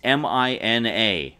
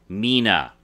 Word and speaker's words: Mina: pronounced Mina now the name is Mina it's mi na 1n which means it's pronounced Mina but all but one character pronounced it Mina